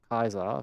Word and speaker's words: Caesar: From here on out, Rome would expand further, take Iberia, take Gaul with Caesar, or Caesar, it's pronounced correctly, we love Latin, take some of Britannia, expand into Greece, take Greece and Anatolia.